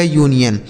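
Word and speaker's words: union: इसे अनियन नहीं पढ़ा जाएगा। यूनियन क्यों पढ़ा जाता है? समझ आ गया ना? कि अगर यू के बाद एक अक्षर के बाद अगर कोई वोवेल होगा तो यू का उच्चारण हमें क्या करना होगा? यू। और अगर कोई वोवेल नहीं होता है तो हमें आ पढ़ना होगा। यह लिखा गया यूनियन।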